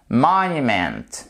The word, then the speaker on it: monument: Ça signifie que sur la première syllabe, vous avez ici, puisque là, elle est juste au début du mot, l'accent tonique, donc c'est monument, monument.